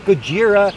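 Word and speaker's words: Gojira: anyway God Story by the way her name's goira and it's a girl but of course Americans come along they mispronounce the name they misunderstand her they shoot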